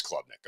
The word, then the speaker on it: Klubnik: I've heard it both ways, and it is Klubnik. Okay. Anyway. Just like the club on your arm.